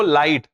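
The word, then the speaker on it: light: तीसरा है जीएच, जीएच में एच को साइलेंट कर दिया गया है। जब भी जीएच साथ में हो, एच पढ़ना ही नहीं है। जैसे देखो लाइट, अब लाइट में ये जीएच एक साथ में, बट आप क्या पढ़ो, लाइट, एच को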